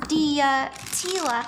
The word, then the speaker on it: Diatila: It's pronounced Diatila. Oh, Diatila.